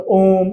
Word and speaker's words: ओम: जैसे एग्जांपल दिया था ओम, ओम नहीं होता, क्या होता? ओम, उच्चारण लंबा जाता है, तो वहां पर